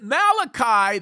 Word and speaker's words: Malachi: and quite the incredible Prophet Malachi that's the right way to say it Malachi had an incredible